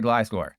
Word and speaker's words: Gliscor: no, we'll play Gliscor, because we faced someone called Gliscor, so we'll play Gliscor. And yes, that's how you pronounce it.